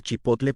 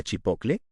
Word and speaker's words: chipotle: ¿Cuánta gente cambia el grupo TL por CL y en lugar de decir chipotle pronuncia chipocle?